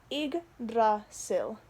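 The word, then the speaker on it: Yggdrasil: is called sil or igra sil the way i learned how to pronounce this is the word pig without the p for the ygg uh is uh it's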